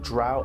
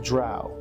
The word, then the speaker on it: drow: you who don't know drow elves are almost 100 inherently evil and are such maligned and prejudiced accordingly in the forgotten realms this is pronounced drow or incorrectly dro also known as deep